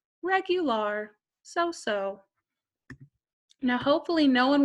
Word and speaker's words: regular: And I know this word, it looks like the English word for it, and it is, but you pronounce it a little differently in Spanish. You would say regular, so-so.